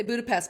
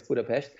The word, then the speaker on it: Budapest: And I pronounced Budapest correctly, by the way. So an S in Hungarian is a sh. Yeah, I noticed that. We would say Budapest, but it's...